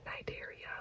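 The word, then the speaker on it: Cnidaria: And then the next one that I have to memorize is Nigeria which is spelled C N I D A H R I and the C is silent and that is jellies and hydros.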